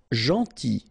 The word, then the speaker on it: gentil: Gentil. So it's a strange one because here this final L is not pronounced.